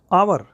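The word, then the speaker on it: hour: Next है आवर, एच की sound silent है तो यहाँ पे एन आना है, आ की साउंड है इसलिए एन आएगा, और ये भी काउंटेबल है।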